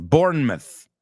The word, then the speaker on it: Bournemouth: Mucho de esos, Bournemouth en Inglaterra. Los mouth, cuando es parte de una ciudad, es myth, como mito, right?